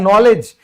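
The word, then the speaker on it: knowledge: फिर है नॉलेज, ये कितना बड़ा एग्जाम्पल है, आप याद नहीं रख सकते इसको। ज्ञान यानी कि नॉलेज, इसमें भी तो डी साइलेंट ही होता है ना भाई मेरे।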